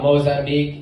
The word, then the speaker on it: Mozambique: The only thing I can think about Mozambique is it rhymes with Ozempic.